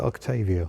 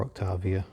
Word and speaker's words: Octavia: the ring gear is Skoda Octavia or Octavia depending on your pronunciation I already met the